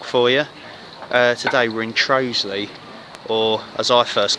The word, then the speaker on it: Trottiscliffe: Ken day walk for you today we're in Trey's Lee or as I first called it trotters cliff but it's not pronounced that it's pronounced Rose Lee so outside the gorge the pub and with